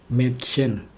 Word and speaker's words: Mädchen: Kalau A umlaut itu sebenarnya nggak beda jauh sama E. Kayak misalnya nih, kayak ini huruf kata ini dibacanya Mädchen, Mädchen artinya gadis.